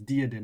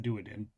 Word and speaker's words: Diodin: It's Diodin, not Duadin.